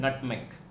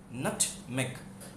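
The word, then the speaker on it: nutmeg: जायफल होता है नटमेग, नटमेग।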